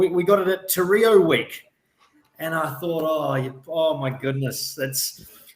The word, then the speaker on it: reo: But she got this little calendar, and the word for language in Māori is reo, R-E-O, but it's pronounced reo rather than Rio.